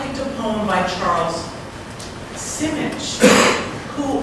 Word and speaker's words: Simic: by Charles Simic, who I thought was Charles Simic until earlier this evening when Bridget told me I was wrong. It's Simic. Who was our... No, she didn't say I was wrong, she just said it right.